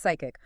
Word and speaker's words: PSCIC: PSCIC, Okay. pronounced psychic.